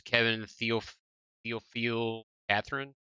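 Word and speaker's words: Kevin Théophile-Catherine: Moving on, we have, and this guy's name is Kevin Theophile Catherine.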